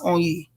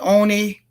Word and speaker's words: Onyi: Because a whole lot of people are not going to even be able to pronounce Onyi. They're going to be calling it Oni.